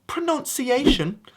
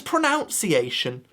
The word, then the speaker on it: pronunciation: Speaking of that word right there, you might think pronunciation is correct. Sorry, that's just me bringing back my Americanisms again. The correct way to pronounce that word is pronunciation.